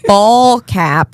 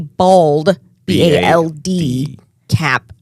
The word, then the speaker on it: ball cap: That a ball cap is how you pronounce it, like a baseball. BALL ball cap. Yeah, she thought it was a bald BALD cap And because she thought, go ahead.